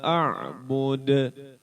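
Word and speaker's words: أعبد: wala antum aiduna maa a'bud terakhirnya di akhir ayatnya itu qalqalah kubro jadi memantul bacanya bud jangan bud gitu doang bukan wala antum abiduna ma a'bud taruh Poin de. Kenapa begitu? Karena hukum qalqalah.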